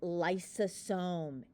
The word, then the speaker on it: lysosome: It sounds like the word Lysol. Lysol, think lysosome.